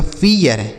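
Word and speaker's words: fear: तो यहाँ पर ऐसा नहीं होगा क्योंकि इसके साथ आर लिखा है। आर आने से इसका उच्चारण बदल गया। तो इसे हम पढ़ेंगे फियर, एफ ई ए आर, इसे पढ़ेंगे फियर।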